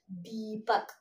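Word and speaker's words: दीपक: So I am giving little bit stress to the first letter. So we pronounce it as Deepak.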